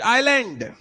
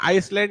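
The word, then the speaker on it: island: इसका pronunciation आइसलैंड नहीं होता है, आइलैंड होता है, ठीक है।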